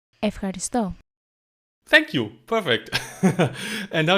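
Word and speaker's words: ευχαριστώ: Efxaṛisto. Efxaṛisto. Efxaṛisto.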